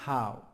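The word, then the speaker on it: 好: How R เ่า R อักษร จีน ตัว แรก อ่าน ว่า How how แปล ว่า ดี อักษร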